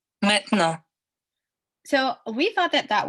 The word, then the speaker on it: maintenant: So, the first part here will show how I would probably say it if I was not Francophone. Maintenant. And then this one here will give it with a French pronunciation.